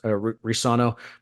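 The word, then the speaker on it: Reescano: ESPN's pronounced it Risano. I think the C is silent. Yeah. Okay. ESPN, of course, pronounced it both ways. Risano.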